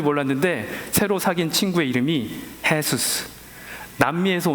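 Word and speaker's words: Jesús: 이게 무슨 말인지 몰랐는데 새로 사귄 친구의 이름이 헤수스, 남미에서 온 친구였는데 J-E-S-U-S, 그래서 J가 해 발음이 나서 헤수스 이름을 갖고 있는 겁니다.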